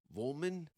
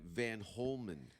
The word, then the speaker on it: Vollman: the safeword podcast on the show today abby vollman yes i said it right yes i want to always say van holman is there is there any uh similarities to